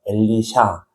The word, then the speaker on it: 엘리샤: 엘리사라는이 이름도 히브리 원래 발음은 엘리샤인데요. 엘리샤.